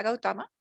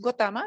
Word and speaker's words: Gautama: En el bautismo pues él recibió el nombre de Siddhartha Gautama, en algunas versiones Gotama, depende de la pronunciación, aquel que se realiza en la verdad.